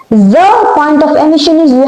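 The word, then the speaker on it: ز: It has exact buzzing like sound buzz. Okay. So now what is point of emission of the letter Z? Z.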